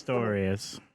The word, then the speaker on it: Pistorius: Is that even how you pronounce his name? Pistorius or something? Yeah, It's Pistorius.